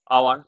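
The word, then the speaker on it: hour: আওয়ার হচ্ছে এখানে কারন এখানে এইচ টি হচ্ছে সাইলেন্ট এখানে এইচ এ কিন্তু কোন উচ্চারণ হচ্ছে না এখানে এইচ এর পরে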